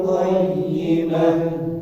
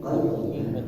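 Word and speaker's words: قَيِّمَة: zakata wa dzalika dinul qayyimah. Baik. Untuk huruf-huruf yang ditasydid jadi tetap terbaca ada tekanannya ini. Misal bayyinah, qayyimah. Ini ada pengulangannya, ada bayyinah dan qayyimah. Jadi bacanya qayyimah, qayyimah. Ada tekanannya sedikit.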